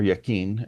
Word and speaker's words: Jachin: And the pillars were Boaz and Jashin, or Yakin, as it's properly pronounced.